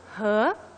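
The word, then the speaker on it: 河: The Yellow River's water, splashing against the sand, sounds like ho, ho, ho. So this type of river gave the character the sound of he.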